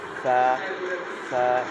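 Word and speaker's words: فاء: তারপরে হচ্ছে ফা, ফায়ের উচ্চারণ আমাদের ফয়ের মতোই, ফ যেরকম ফ আমরা উচ্চারণ করি এরকম ফা।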